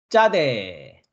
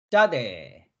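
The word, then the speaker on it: צדי: 다음 글자는 낚시바늘이라는 의미를 가지고 있는 짜대, 짜대, 짜대라는 알파벳이고요. 쌍지읒 음가를 가지고 있습니다. 쯔 되겠죠? 짜대.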